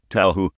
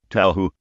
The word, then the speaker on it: Touhou: Okay, this is the canon pronunciation of the word. You can't argue with Charles. He's English. Touhou. You heard it. Touhou.